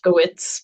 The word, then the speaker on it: Lefkowitz: called Trouble Finds Evie Lefkowitz. Did I say that name correctly? Is that Lefkowitz, but you can put nice? the V pronunciation in there if you want to.